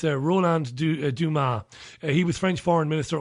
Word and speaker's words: Dumas: My pronunciations are disgraceful. So it's Roland Dumas.